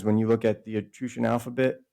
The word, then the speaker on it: Etruscan: I say Etruscan, not Etruscan, because it's a Latin word, Etrushi, and the SC is pronounced like an SH in Latin.